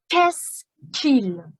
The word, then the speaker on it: qu'est-ce qu'il: quoi Quest non non en français c'est le son k qu'est-ce qu'il est-ce qu'il je ne